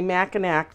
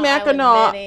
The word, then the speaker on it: Mackinac: way if i have one more person say mackinac to me i'm good are you kidding me yeah all the time it's called mackinac i don't know why i think it's because